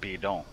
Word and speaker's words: bidon: I looked up the pronunciation of this bidon, and it's actually French and pronounced bidon.